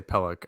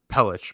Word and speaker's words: Pelech: it but yeah so every time I say peluk in my head know that it's pelich because I've just heard